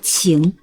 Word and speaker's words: 情: Ce caractère se prononce « qing » (情) .